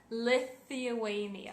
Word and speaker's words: Lithuania: Sim, tem aquele TH que vocês têm muita dificuldade de pronunciar. Sim, no nome do meu país vocês têm que falar ele, fazer aquele som. Lithuania.